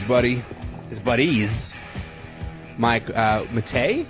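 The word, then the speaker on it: Matei: His buddy His buddies Mike uh Mate, is that how is this pronounced? Mike Mate. Yeah, that's right. Mike Mate.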